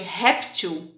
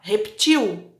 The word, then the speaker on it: réptil: acrescento o s mas o caso de réptil apesar de terminar ml é uma palavra paroxítona então réptil répteis mas a possibilidade dela também ser oxítona seu pronunciar repetiu que é pouco usual